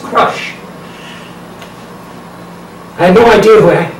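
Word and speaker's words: Chrusch: Harry Crush, C-H-R-U-S-C-H, which I've learned is pronounced Crush.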